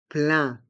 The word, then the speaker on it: plein: un billet plein tarif les trois lettres e i n font le son un plein un billet plein tarif